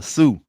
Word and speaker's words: Sioux: We got the Shoe Nation. I mean not the Shoe, the Sioux. That's how you say it, the Sioux Nation.